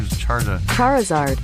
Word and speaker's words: Charizard: I don't see pronounce Charizard. Is that it? Char Charizard.